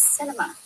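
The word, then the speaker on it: Sinema: in it down right the arizona senator's name is pronounced cinema and it is apt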